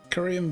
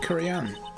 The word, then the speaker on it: Kurain: The treasures of Kurian. Or Kurain? Kurain? Kurain? I think it's pronounced Kurain. I can't remember how I was pronouncing it last time. I'm going to say Kurain.